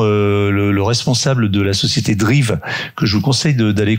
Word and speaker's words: Dreev: Drive, donc ça s'écrit DREEV, et selon son PDG